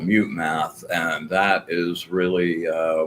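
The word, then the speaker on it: Mutemath: by a band called Mute Math. And that is really uh one of my favorite practice songs. Um, so just mute math just like it's spelled.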